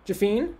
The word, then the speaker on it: Jafine: is that how you say your last name jafine thank you um that's a very american pronunciation i think on my part um uh